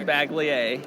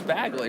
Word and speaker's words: Bagley: people at the website who always pronounces your name mark bagle mark bagley a and i actually talked to your daughter on the way in here i'm like it's bagley right she's like yes so so i can